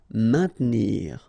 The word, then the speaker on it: maintenir: Maintenir, so remember A-I-N together will produce the sound un, main. Maintenir. Don't insist on the E. Maintenir.